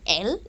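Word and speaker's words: elles: if there are all the girls we say l e-l-l-e-s which is feminine plural now you will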